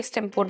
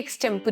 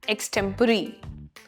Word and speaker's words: extempore: ये extempore नहीं है, ये extempore है. So again, extempore. The pronunciation of this word, correct pronunciation, is extempore.